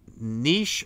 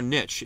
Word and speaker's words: niche: Duncan, niche or niche? It's pronounced both ways.